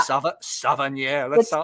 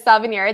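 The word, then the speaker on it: Savennières: Savennieres. You say it just like it looks. Yes. From France, based on the appellation is Savennieres.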